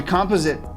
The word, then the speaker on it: composite: you're going to be able to use the composite. Is it? Hold on, I need to know how this is pronounced once and for all.